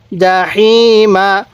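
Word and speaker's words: جحيم: Jerry মিম জবর মা জাহিমা ওয়াকফ করলে জাহিম তাহলে লাতার জাহিম এই হাটা উচ্চারণের সময় মুখ দিয়ে হালকা বাতাস বের করবেন তাহলে আমার সাথে পড়ুন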